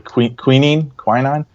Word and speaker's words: quinine: I don't know how to pronounce it properly. Quinine.